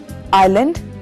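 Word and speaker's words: island: आइलैंड, द्वीप या टापू, इसमें एस साइलेंट है।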